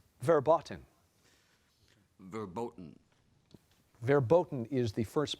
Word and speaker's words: verboten: and Abigail Ray she loves Sushi Abigail spell verboten verboten verboten is the first pronunciation of this word verboten forbidden especially prohibited